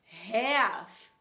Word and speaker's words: half: A gente vai falar half. A gente não vai pronunciar esse L em inglês.